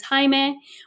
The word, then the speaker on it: Jaime: a male's name, and especially also the Spanish culture, the way you pronounce that is Jaime, which is a male's name.